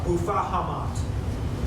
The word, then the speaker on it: Abu Fahamat: be a corruption of the Arabic Abu Fahamat, pronounced in Moorish Spanish similar to Bufahamat.